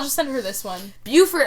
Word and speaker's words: Beaufort: Beaufort of South Carolina is pronounced Beaufort, as in beautiful. The Beaufort of coastal North Carolina is Beaufort, as in Beauregard, which is also the correct pronunciation of the Duke of Beaufort's name.